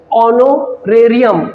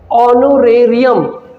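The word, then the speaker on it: honorarium: एच इसमें silent है। ए की आवाज आई है। ओनोरेरियम।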